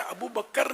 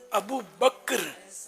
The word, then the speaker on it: ابو بکر: اور ابو بکر یہ پہلے بھی میں کافی سمجھا چکا ہوں کہ یہ تلفظ غلط ہے. ابو بکر نہیں ہے, ابو بکر کاف ساکن ہے.